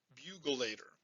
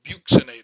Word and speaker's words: buccinator: the best thing to teach people but i mispronounced this as the bugulator and i could remember it's the buxinator the bugle and so i'd say when dizzy